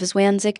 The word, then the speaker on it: zwanzig: Notice that is followed by The pronunciation of zwanzig can be tricky. Don't forget the z is pronounced like ts.